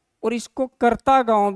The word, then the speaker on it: करता: इसका नाम करता है, यहाँ देखिए KATRA, ये नहीं है, KARTA ये है। तो ये उच्चारण होते होते होते करता का क्या बन गया है? कटरा बन गया है, लेकिन एक्चुअल में क्या है? ये करता गांव है, ठीक है।